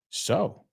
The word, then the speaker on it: sow: So, sow, y ojo, es un homófono para coser. So, S-O-W, sembrar, sounds exactly the same as S-E-W, aunque es